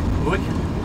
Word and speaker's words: Uig: Yeah, I don't think it's pronounced egg, like E-I-G. Uig?